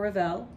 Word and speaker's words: Ravel: Don't pronounce the final schwa for Ravel.